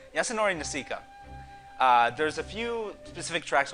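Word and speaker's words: Yasunori Nishiki: I looked up pronunciation. Yasunori Nishika.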